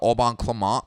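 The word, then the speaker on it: Au Bon Climat: clemont and uh the the pronunciation is that it's spelled a-u-b-o-n and then it looks like climate it's uh auburn clement pinot noir from the santa barbara region of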